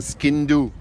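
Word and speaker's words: sgian-dubh: Un skindoo, ça se prononce. Skindoo, ça s'écrit giandube.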